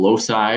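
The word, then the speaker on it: loci: as well okay so the plural for locus is called low sigh which you see here low side with a soft C and that your book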